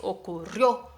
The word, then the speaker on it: ocurrió: Ocurrió, no es ocurrió, ocurrió, es ocurrió. La sílaba fuerte ahí es la O final, entonces ocurrió, ¿vale?